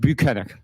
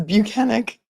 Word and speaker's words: Bukhenik: bunck I Sergeant buenik how do I say it buenik okay well we've learned how to pronounce his name it's banic um I am not